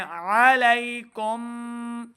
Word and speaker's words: علیکم: ہماری غلطی کیا ہوتی ہے، ہم پڑھ رہے ہوتے ہیں علی حمزہ کی آواز ہے. عین کو صحیح تلفظ کے ساتھ پڑھیں علیکم.